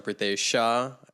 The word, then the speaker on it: Pritesh Shah: Guys, I'm Prateesh Sha.